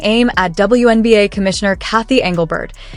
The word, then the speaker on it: Engelbert: The commentary then shifts toward league leadership, taking aim at WNBA Commissioner Cathy Engelbert, whose name is sometimes mispronounced as Angelbert or Angelberg.